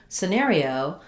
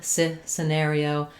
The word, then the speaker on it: scenario: But when we change to scenario, because the stress is on the middle syllable, now our E no longer says that E sound.